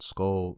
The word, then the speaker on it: Skul: slash rpg type of experience and the game is spelled s-k-u-l and it's called skull the hero slayer i really really enjoyed this